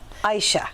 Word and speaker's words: Aisha: you i keep saying aisha because that's what your name looks like and i read a lot okay it's a I shot yes either way is fine there's many ways to pronounce it okay well yes you